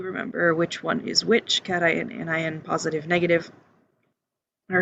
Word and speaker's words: cation: a positively charged ion note that it is pronounced cation notification um the come back to that so